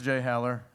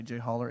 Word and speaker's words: Jay Haller: so my name is jay haller um actually you mispronounce it you say j holler it's jay haller thank you very much